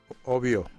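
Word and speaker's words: Ovbio: v b i o that o is pronounced as o obio obio yeah yes okay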